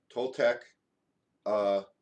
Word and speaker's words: Toltecayotl: Do you know how to spell that? Tolteca? Toltecayotl.